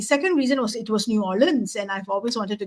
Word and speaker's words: New Orleans: I did go to New Orleans um and it's New Orleans not New Orleans uh as I was told to pronounce it um and I have